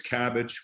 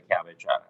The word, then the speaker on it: CABG: And you abbreviate that CABG? That's correct. That's what's abbreviated in the medical record? Yes. And you pronounce that, or you use the phrase cabbage when you refer to a coronary artery bypass graft surgery? It's commonly referred to as a cabbage.